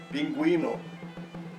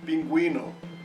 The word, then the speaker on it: pingüino: But now listen to this. La G y U plus E pronounce guerra, guerra. And la G y U plus I pronounce guitarra, guitarra. The letter U in these two examples is silent.